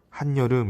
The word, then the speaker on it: 한여름: 이 한여름 실제로 발음은 한여름 이렇게 발음할 겁니다. 없던 것이 생겼습니까? 무엇입니까? 그렇지. 니은이 새롭게 생겨서 우린 이 현상을 니은 첨가라고 이야기를 합니다.